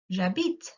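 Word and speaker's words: j'habite: you you say also jabit you don't say habit can you remember we discussed that before so if the h is silent it means it doesn't exist so if you get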